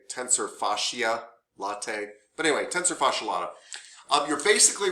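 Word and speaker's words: tensor fasciae latae: I don't know how to pronounce it. Yeah. So you're going to say tensor fascia lata.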